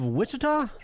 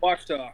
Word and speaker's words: Wichita: And it's Jaws of Wichita. Did I say it right? Wachita.